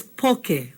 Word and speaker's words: poke: some limu sometimes they put soyu but it's poke okay can you say that with me okay